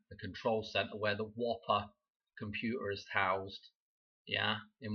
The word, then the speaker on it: WOPR: I know it's spelled as WOPR for the Whopper computer.